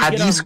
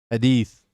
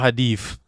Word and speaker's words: hadith: Hadith. Hadith. It's not hadith. My bad. I just pronounce it hadith. Easier to pronounce. But I think it's hadith.